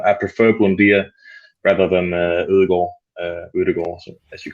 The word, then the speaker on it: Ødegaard: You're the first person who's pronounced it correctly on this channel. That's It's probably not. It's probably Edegard. I don't know, but in Denmark we say it different.